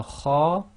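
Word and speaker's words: خ: The next one is the letter kha, and it's one of the tafkhim letters, and you've got that slight grinding in the throat. So this will be pronounced as akh, akh. So again, you might have to overemphasize a little bit to practice. So akh, akh. There's no real equivalent in English.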